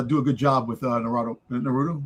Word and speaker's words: Naruto: Every every syllable is supposed to have an equal accent. Um but the letter U and the letter I generally don't get a strong accent. So Naruto is probably the most common, but you can